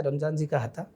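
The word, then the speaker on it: रमज़ान जी का हत्था: बड़ा यूनिक सा है, इसका कुछ सर इसका प्रोनाउंसिएशन है रमज़ान जी का हत्ता।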